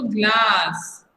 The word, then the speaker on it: glass: Because GL को आपको ग नहीं पढ़ना है, ग्ला पढ़ना है, साथ में पढ़ना है इसको, ये साउंड को साथ में पढ़िए, ग्ला, फिर ASS, तो ग्लास। ओके, आप हिंदी में इसको गिलास बोलते हैं ना, तो कई बार आप इंग्लिश में भी वही बोलते हैं।